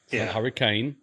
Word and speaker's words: Hurricane: on a little secret it's huran hurricane just pissed off every Utah person in the state it's Hurrican hurricane and uh Hur it's it's a weird pronunciation spelled the same way though um however you know